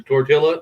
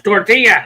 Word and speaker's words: tortilla: Yeah, again, I should have, because if you say jalapeno or tortilla around Tony, she loses her fucking red-headed mind. It's tortilla.